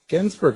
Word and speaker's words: Gensburger: Gensburger, is that like cheeseburger? It's like cheeseburger.